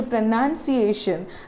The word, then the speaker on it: pronunciation: say the word so the word pronounced as n-o-u-n the word pronunciation is n-u-n so we normally say the word as pronunciation not pronunciation so correct this